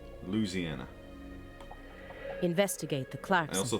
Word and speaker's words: Louisiana: from Louisiana in general given that she actually pronounces the state's name right which almost no one does unless they're from Louisiana Louisiana what did it say yeah with no emphasis on the eye Louisiana investigate the Clark